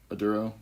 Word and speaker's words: Maduro: How do you pronounce it, actually? Maduro, right?